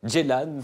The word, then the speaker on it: Ceylan: Nuri Bilge Ceylan ou Ceylan, une amie turcophone de la rédaction, vient de me dire qu'on disait Ceylan.